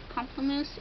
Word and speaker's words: Pamplemousse: And then I've got Pamplemousse here, which a lot of people don't know how to pronounce. It's Pamplemousse. It means grapefruit in French.